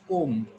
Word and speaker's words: comb: Should I call it comb? College. Com. It's comb.